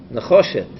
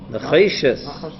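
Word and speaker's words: נחושת: Nechoshet. Necheshes.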